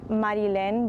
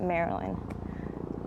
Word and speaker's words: Marilyn: name marilyn so so it's in spanish it's marilyn but here everyone just reads it maryland are you okay with